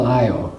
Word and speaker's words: Io: Well, this little it's called Io or EO. I've heard it pronounced both ways.